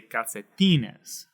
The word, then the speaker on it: calcetines: these 4-syllable words here, now we're going to go the last syllable, second to the last is right here. So we're going to say calcetines. Calcetines. Right? That is where we want to place our emphasis.